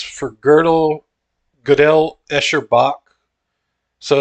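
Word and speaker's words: Gödel: do go Godel g-o-d-e-l I think it's pronounced girdle the girdle Escher but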